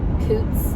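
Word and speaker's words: Coutts: I'll probably stop in Great Falls, which is like in between Helena and Sweetgrass, Montana, or Coots, I think is how you say it.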